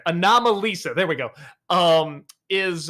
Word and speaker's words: Anomalisa: comes to to uh stop motion and uh an Analisa I can never say it right anomalisa there we go um is uh I know